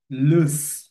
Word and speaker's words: loose: যাই সো আজকে দুইটা শব্দ দেখব একটা হচ্ছে লুস এই যে দেখুন এল ও এস ই লুজ